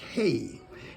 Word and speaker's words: He: heart say number five this is pronounced hey teach me oh Lord